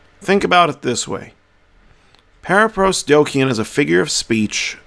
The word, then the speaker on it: paraprosdokian: a big word so let's break it down into syllables and pronounce it para pros dokyun para pros dokyun that is the word so para pros dokyun